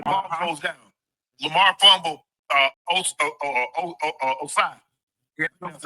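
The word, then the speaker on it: Ossai: Osai. Yeah, that's how you pronounce his name.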